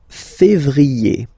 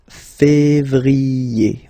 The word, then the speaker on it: février: yé, yé, yé, janvier, then comes février, février, okay, remember when you have this accent aigu on the top of then you pronounce it E, okay?